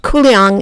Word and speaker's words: Kuliang: cooling is the town's name in mandarin and qu yang is how you pronounce it in the local Virginis dialect 100